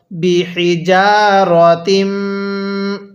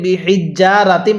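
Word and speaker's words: بحجارة: করে পড়বো কিভাবে পড়বো বিহিজারাতিম অনেকে আমরা এই শব্দটাকে ভুল পড়ি এটাকে বিহিজ্জারাতিম পড়ি যদি বিহিজ্জারাতিম পড়ি তাহলে পড়াটা সহি শুদ্ধ হবে না এখানে বিহিারাতিম এরকম ভাবে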